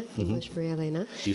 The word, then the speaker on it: Maria-Elena: So, for those of you who understand Spanish or it's easier for you to pronounce, it's actually Maria-Elena, mm-hmm. English Maria-Elena.